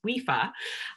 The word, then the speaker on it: WIFA: in fitness association and a lot of people don't actually know how to pronounce our acronym and it's wifa um so i'm i'm